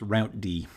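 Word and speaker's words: routed: using rip um and and that was it's pronounced route D and you can find many references to this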